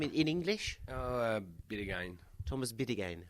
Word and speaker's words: Bideguain: Bideguain. Thomas Bideguain. Ouais, en français, c'est Bideguain.